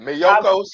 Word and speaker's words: Miyoko's: And so for February, I'm glad you told me how to pronounce that word. Miyoko's.